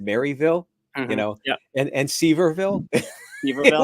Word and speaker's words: Maryville: I'm down in Maryville, so I've learned to say it correctly. So Marvel, yeah, I yeah, know.